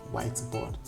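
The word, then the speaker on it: Witeboard: The next tool we're going to talk about is whiteboard, but it's pronounced the white is spelled without the H. You know, spells W-I-T-E. You know, board, whiteboard.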